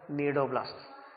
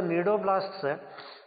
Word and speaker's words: cnidoblasts: They are called as the cnidoblasts. So these cnidoblasts, they are called as the cnidocytes also. Here C is silent here.